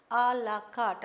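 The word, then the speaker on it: à la carte: to the menu okay alaat this this again is a French word allart according to the menu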